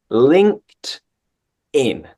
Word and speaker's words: LinkedIn: check for example uh we pronounce it like a t so link linked and then link tin link tin it's like two different words link tin LinkedIn perfect pronunciation anyone would